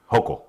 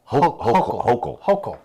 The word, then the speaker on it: Hochul: Hochul. Hochul. Has... no, you pronounce it devil.